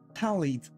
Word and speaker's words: Tali: It's Tali, right? Like tally counter.